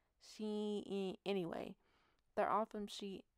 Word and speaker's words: Shein: Which one is it? Sheen? Shein. Because it's spelled Shein, and that's Sheen. Shein.